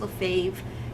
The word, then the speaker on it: Lefebvre: Her last name is spelled Lefebvre. Lefebvre, but it's pronounced Lefebvre.